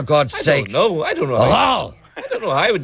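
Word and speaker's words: Ahoghill: A hochel. Oh my God. Now, you have to, but that's the way it's pronounced normally. It's a hochel. Now, here we pronounce it a hochel.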